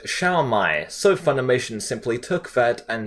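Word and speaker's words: 烧卖: In Chinese, the food is pronounced as Shao Mai, so Funimation simply took that and said Shu's name as Shao from Resurrection F onwards, for whatever reason.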